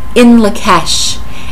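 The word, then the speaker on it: In Lak'ech: not quite sure but it is pronounced inla kesh and what that means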